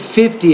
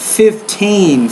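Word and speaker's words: fifteen: uh with the numbers it's sound like you said 50 it's 15 15 not 50 so when you're doing numbers of 10 you put the stress on the second syll when you're doing numbers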